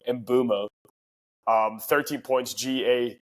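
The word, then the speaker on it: Mbeumo: Embuemo, we get rewarded for holding Embuemo, finally. Or Mbumo, sorry. Everyone's been telling me that I pronounce his name wrong. Mbumo.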